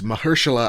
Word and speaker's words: Mahershala: it well is because i'm thinking mh like they're using the h twice but it's only one age in the name that's the thing that